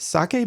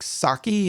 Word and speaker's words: sake: first am I saying it properly is it sake because I've heard people say like Saki and like something that you would throw into